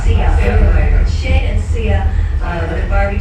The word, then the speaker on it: Sia: Welcome to Loveline and say hi to, am I pronouncing your name wrong? It's C. Sia. Sia.